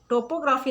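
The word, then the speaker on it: topography: और नेक्स्ट है टोपोग्राफी। टोपोग्राफी नहीं कहेंगे इसको, टॉपग्राफी कहेंगे। इसमें ओ साइलेंट है, सेकंड वाला ओ साइलेंट है, टॉपग्राफी।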